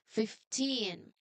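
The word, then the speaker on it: fifteen: It comes from five but we do not know say we do not want to say 15. We say 15. Okay 15 and the V changes completely to an F sound.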